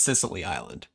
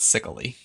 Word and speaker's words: Sicily Island: out as well Thomas it is pronounced Sicily Island not sickly Sicily Island yes unbelievable yes I'm I'm pretty sure that the pronunciation of that should be fairly similar to an identical to the island of Sicily that belongs to the